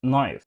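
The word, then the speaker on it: knife: الكلمه دي اه دي كنايف كنايف دي بتتنطق نايف الكي سايلنت مثال تاني دي اسكت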